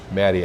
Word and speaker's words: Mati's: Matty, and Matty is spelled MATI''S.